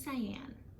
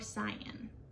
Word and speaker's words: Cyan: and the name is Cyan, or Cyan. You can pronounce it either way, but I think the "an" sound makes it fit in with other girls' names and makes it sound very name-like, even though I don't